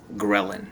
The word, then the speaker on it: ghrelin: Sometimes it's pronounced ghrelin, actually. Many people say ghrelin.